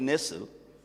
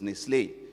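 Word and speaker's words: Nestlé: Nestle they call it Nestle but it's a French they come from the French part of Switzerland so it's Nestle you have to pronounce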